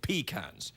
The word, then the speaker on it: pecan: in the south and the people who farm these nuts call them pecans it's only pretentious people